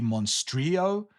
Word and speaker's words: Monstrilio: The next book that I received is Monstrilio. I think I'm pronouncing that right. I think you are supposed to, in this case, pronounce the L, although that's not always the case in all Spanish words.